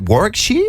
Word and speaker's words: Warwickshire: Is it Warwickshire?